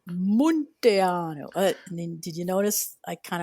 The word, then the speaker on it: Munteanu: Montiano, it's it's pronounced Montano.